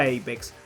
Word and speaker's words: APX: Con respecto al nombre, si bien es apx, se pronuncia apex, la palabra en inglés